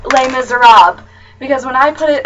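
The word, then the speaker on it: Les Misérables: I'm like, it's really not that hard. It's Les Miserables. Like, forget that the LES is even on there, and there you go. Les Miserables.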